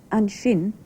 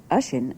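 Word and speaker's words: an sin: In the episode of the serial you've just seen, you heard an shin, or ashin as it's more usually pronounced in speech, used to mean there when you're pointing at something.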